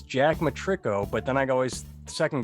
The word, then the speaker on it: Matirko: And this is my favorite part, is where I say it's Jack Matirko, but then I always second guess myself and say, did I say his name right?